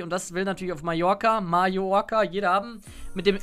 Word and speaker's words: Mallorca: Da hat wirklich einer Mallorca draufgeschrieben mit J. Es wird ja Mallorca ausgesprochen, aber es heißt ja Mallorca und er hat einfach so wie Mayo, Mallorca.